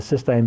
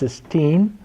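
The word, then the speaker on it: cystine: of them come together, it's cysteine or cysteine, it's T-I-N-E. People pronounce it differently, but cysteine is with the E in it, and that's in the reduced form, and that's the one you use.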